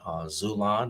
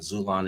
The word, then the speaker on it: Xulon: You can order it on Amazon, Zulon, and Zulon is spelled Xulon, Barnes and Noble, Walmart.